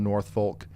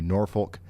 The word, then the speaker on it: Norfolk: is also for Gatsville, North Folk, I'm sorry, Norfolk, uh Marsh Marshall and Leslie um Baxter, Fulton, Izzard, Pope, Cersi, uh Stone and Van Beern counties.